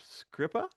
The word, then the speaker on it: Skrzypa: is the writer himself, Jacob Scripper. Have I got that right? Yeah. Wow. You're the first person ever to say it right.